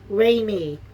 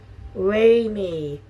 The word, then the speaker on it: Raimi: Sam Raimi. Raimi.